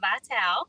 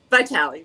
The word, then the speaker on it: Vitale: clubhouse members miss marina vital am i saying your name right by tally but it's close i'll take anything are